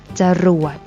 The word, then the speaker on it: จรวด: ตลก อ่าน ว่า ตลก จรวด อ่าน ว่า ว่า จรวด อร่อย อ่าน ว่า อร่อย